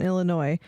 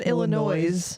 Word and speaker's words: Illinois: hate h having hearing people pronounce the s in Illinois I don't think you ever said Illinois yeah some people do